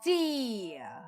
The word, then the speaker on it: Gi: Number one best the D. Yep, that's how you pronounce it.